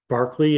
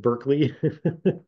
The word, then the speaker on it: Berkeley: the University of California was campus was named Barkley it should be but we pronounce it Berkeley um and then the town was named after